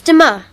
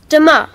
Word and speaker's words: demain: It's demain. Sorry, can you say that again, please? Yes, it's demain. How do you spell that?